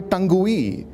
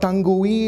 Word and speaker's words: tongue: That's not tongue-y, it's tongue. Every time you see a word ending with ue, the ue is silent. You don't say tongue-y. It is tongue. It is not vague-y. It's vague."